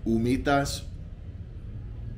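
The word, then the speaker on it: humitas: but these are called umitas it's spelled like who meat ducks but they don't pronounce the h umitas it's bread made from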